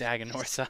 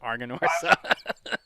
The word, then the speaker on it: Aganorsa: It's like it's Aganorsa, but he calls it Arganorsa.